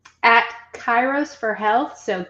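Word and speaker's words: Kairos: Spell that for us. Chyros for Health.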